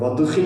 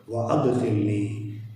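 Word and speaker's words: وأدخلني: വഅദ്ഖിൽ അവിടെ വദ്ഖിൽ എന്ന് പറഞ്ഞാൽ പോരാ, വഅദ്ഖിൽനി ഞങ്ങളെ നീ പ്രവേശിപ്പിക്കണമേ എന്നാണ് അർത്ഥം.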